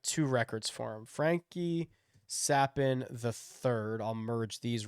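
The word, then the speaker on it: Capan: dollars Frankie sappin uh it is pronounced sappin c-a-p-a-n not Captain so I will let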